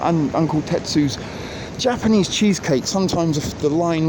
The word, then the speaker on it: Uncle Tetsu's: the uncle test use or uncle testes as I sometimes mispronounce it but uncle Tetsu's Japanese cheesecake sometimes the